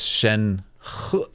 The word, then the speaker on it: Shen: so cool right mm that's Shen can you say mhm there's a little tiny hint of a but it's not very pronounced yeah too much too